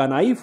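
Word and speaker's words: knife: एफ य तो क नाइफ होना चाहिए नाइफ क्यों होता मास्टर कहता है चुपचाप पढ़ते जाओ वो के जो है साइलेंट है उसको लिखोगे बोलोगे नहीं कैसी भाषा है मास्टर साहब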